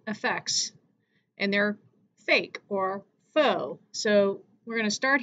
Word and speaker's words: faux: F-A-U-X is pronounced faux, means fake or imitation, false.